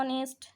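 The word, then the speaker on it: honest: An hour, an honourable, an অনেস্ট, তাহলে এইচের উচ্চারণ এখানে হচ্ছে না, যেহেতু ভাওয়েলের মতো উচ্চারণ হচ্ছে তাই এক্ষেত্রে আমরা বসাচ্ছি অ্যান। An hour, an honourable, an অনেস্ট, এগুলো খুব ইম্পর্টেন্ট, আর এগুলো কিন্তু এক্সেপশন, আলাদা,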